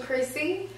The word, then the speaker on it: Chrisse: out for my name on there is official Chrissy if you want me to spell it it's c h r i s s